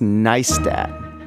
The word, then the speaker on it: Neistat: It's pronounced Neistat. Nice, like rice or ice or mice.